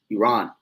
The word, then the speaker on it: Iran: So when you go into the history around 1935 is where the name changed from Persia to Iran or Iran, is really how you say it, Iran.